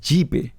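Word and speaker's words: GPAI: Global partnership for एआई, pronounced as जीपे, जिसका India अभी chairman है, या फिर इसी साल हिरोशिमा G7 समिट में एस्टैब्लिश किया गया हिरोशिमा एआई प्रोसेस।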